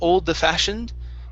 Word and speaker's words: old-fashioned: So here instead of old-fashioned, okay, so we're going to push the D into the F.